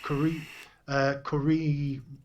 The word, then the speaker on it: Kurimu: And it's the Kurimu range, which is pronounced. If you was doing it in Japanese, it's basically creamy. So it's Kurimu, according to Wikipedia, on how to pronounce it.